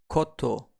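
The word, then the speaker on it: こと: The kun reading is koto, and we can memorize thing or matter or koto with this example sentence.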